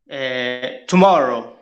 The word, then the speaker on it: tomorrow: Tomorrow. Great, and where do you think it's the stress? In the second syllables.